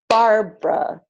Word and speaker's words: Barbara: So all of these words are pronounced aspirin, average, Barbara, business, camera, different, evening, every, family, favorite, federal, general, interest.